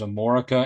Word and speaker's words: Amorica: If you want to Google Black Crowes Amorica, and I am saying it right, I'm not mispronouncing America. They spelled it Amorica.